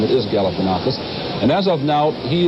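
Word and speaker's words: Galifianakis: He one of his biggest problems in the campaign was to teach voters how to pronounce his name. It is Galifanakus.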